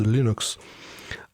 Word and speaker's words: Linux: The proper pronunciation of Linux is Linux."